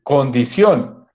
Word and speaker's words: condición: terminan en n entonces condición porque tiene tilde porque es una palabra aguda del acento está en la última sílaba y terminan en fíjate